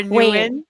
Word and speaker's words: Nguyen: your last name is actually pronounced Wing or new yeah or Wing yeah new which do you prefer I prefer Wing okay Enrique's win